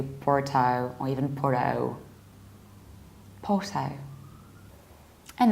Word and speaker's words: Porto: In British accent we skip a r and we need to round the final O, even though in Portuguese they pronounce the city like Porto, Porto. But unfortunately in English we have to round this ending, even though it sounds a little bit strange. So that's why it's Porto.